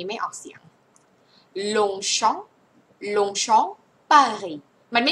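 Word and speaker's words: Longchamp: ลง ชอง ปารี อื ลง ชอง ไม่ เอา ไม่ มี มอ ม้า ไม่ มี ม ม้า ใน นี้ ไม่ มี มอ ม้า ใน นี้ นะ คะ ลง แล้ว ก็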